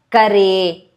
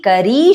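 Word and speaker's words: करी: Yoga Nidre Mahanidre Nidre Yoga Maye Maheshwari Yoga Siddhi Dhi stress Kare Shuddhe, de stress. Yoga Siddhi Kari Shuddhe. It's not a kare, it's a kari.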